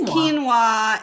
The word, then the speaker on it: quinoa: know hey you guys it's a quinoa it's quinoa and it is a grain similar to rice but um a little bit healthier yeah qua quinoa quinoa where do they get the W where did they get the W and a the NOA is kin no you the end with like a w yeah the NOA is like a w yeah so they should have put a w all right next word